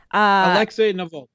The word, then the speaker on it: Navalny: nalve how do you say it nav navalny navalny okay navalny as a uh far right yeah